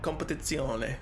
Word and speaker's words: Competizione: That's how you say it, Competizione.